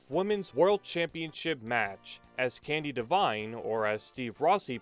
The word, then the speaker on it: Candi Devine: Let's segue to the UWF Women's World Championship match as Candy Divine or as Steve Rossy pronounces it, Candy Deian, looks to redeem her loss from Beach